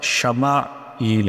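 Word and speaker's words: ישמעאל: یہ نام رکھا گیا۔ عبرانی میں اس کا تلفظ شمائیل ہے۔ وادی غیری ذی زرع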